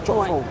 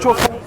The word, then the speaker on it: Chofo: Le nom Chofo est en bafou et se prononce en gombale, Chofo. Quand on dit Chofo, on ressent l'accent du français. Et ce n'est plus le même nom en fait.